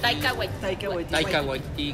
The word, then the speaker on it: Taika Waititi: Ahí sale nuestro amigo que sí se pronuncia así, ¿no? Taika Waititi.